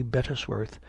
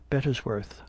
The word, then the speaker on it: Bettesworth: "Sir," says he, "I am Sergeant Bettesworth." In his usual pompous way of pronouncing his name in 3 distinct syllables, "Of what regiment, pray?"